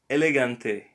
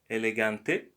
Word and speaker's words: elegante: Elegante is not elegante. Sometimes the letter G might sound like G, but sometimes like G.